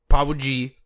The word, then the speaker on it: Powgi: World Sudoku by Powgi, P-O-W-G-I, I believe is actually how I'm supposed to pronounce it.